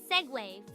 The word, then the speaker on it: segue: It's pronounced segue.